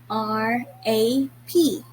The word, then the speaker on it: wrap: in a roll so the spelling of wrap is r a p rap if you have noticed not all letters are sounded w was read silently instead it was read as rap not wrap right so